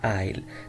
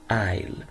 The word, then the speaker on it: aisle: وهذه الكلمة تنطق aisle، لا تنطق aisle ولا تنطق aisle، تنطق aisle. So aisle seat is the seat close to the passage between the rows, the two rows.